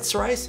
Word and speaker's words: psoriasis: my now late father-in-law had Sarai is that psoriasis is how you pronounce that uh so it didn't shampoo for